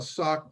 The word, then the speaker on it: SOC: the state agencies to get what's called a sock 2 type 2 review done every year and a sock 2 type 2 means that a private contractor